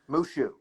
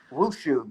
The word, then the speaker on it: Wushu: Mushu. Yes, almost, but with a W in front of instead of an M. Wushu. Like the little dragon from Mulan, but if you've seen